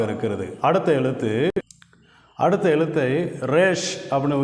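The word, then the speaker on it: ריש: எழுதி அப்படியே கீழ இறக்கிறோம் இந்த எழுத்தை ரேஷ் அப்படின்னு உச்சரிக்கிறோம் இந்த எழுத்தின் அர்த்தம் பின்னந்தலை அதாவது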